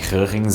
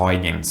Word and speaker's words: Huygens: E só uma nota, eu já falei o nome Hörrens algumas outras vezes em alguns outros vídeos desse capítulo e provavelmente vocês estão me xingando mentalmente ou nos comentários, mas essa é a pronúncia certa. Mas a gente também pode falar Huygens ou Huygens, ou sei lá, qualquer coisa serve.